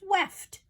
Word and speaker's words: weft: It almost sounds like the word left, but it's weft, left to right.